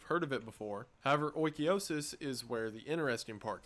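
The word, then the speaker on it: Oikeiosis: Oikiosis, and according to the internet, that is how it's pronounced, I looked one up this time, is closely related to ideas of Stoicism.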